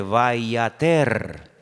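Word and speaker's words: וַיֵּעָתֶר: Es la misma palabra, pero se pronuncia de una forma diferente, vayater. Vayater, vayatar, vayater. Se escribe igual, pero las vocales se ponen diferentes.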